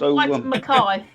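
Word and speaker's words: Whyte & Mackay: It's pronounced White Mackay.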